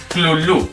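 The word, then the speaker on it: Cthulhu: registrarlo las letras humanas, se podría interpretar como algo parecido a clunu, donde la primera sílaba se pronuncia de forma gutural y muy opaca. La u es como la de la palabra inglesa full y la primera sílaba no suena muy distinto de clul porque la h representa la opacidad butural.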